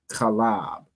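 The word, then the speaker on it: חלב: Milk is pronounced in the Hebrew asab. Calab most Christ. So milk in the Hebrew is calab.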